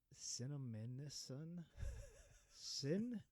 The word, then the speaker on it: Cinnaminson: Never been there, sure but it's it's Cinnamison. Oh, sounds like Cinnaminson. Brad, congrats, Brad, man. New Jersey, man. It's got to be the correct pronunciation.